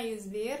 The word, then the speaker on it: A101: Jadi di Turki ini ada supermarket namanya ada A101, bacanya Ayuzdir, A101 nih, ada Shock sama ada Bim.